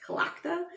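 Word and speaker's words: Tlachtga: that it's celebrated or started was, again, it's Kalakta. Yep. It's spelled, let me spell it to you, because Tlachttga.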